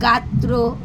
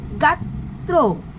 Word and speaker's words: গাত্র: যেটা আমরা আগেই বললাম গাত্র গাত্র ছাত্র দুবার উচ্চারণ হচ্ছে।